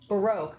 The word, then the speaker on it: Baroque: the time okay and the way we pronounce Baro is baroke kind of like oops I broke the lamp you know um excellent